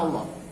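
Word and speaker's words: الله: Sebelum kata Allah tanda bacanya u, maka lam pada kata Allah dibaca tebal.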